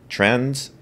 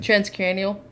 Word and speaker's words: transcranial: Am I saying that first word right? Transcarnal. T-R-A-N. Transcranial. Transcranial. Yeah, that makes sense.